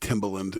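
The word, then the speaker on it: Timbaland: Timberland.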